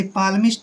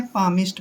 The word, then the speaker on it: palmist: ऐसे पाल्मिस्ट नहीं पढ़ना है, पामिस्ट पढ़ना है।